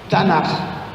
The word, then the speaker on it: Tanakh: Em hebraico, a gente chama Tanakh. Tanakh. Se escreve Tanash, com CH. Tanakh.